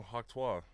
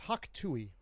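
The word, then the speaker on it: hawk tuah: It's hawk tui. First of all, it is tui.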